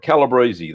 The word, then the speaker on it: calabrese: And yeah, calabrese, that's it.